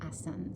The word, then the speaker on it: asana: Western right as but we don't pronounce the a so we say asan so talas so I'll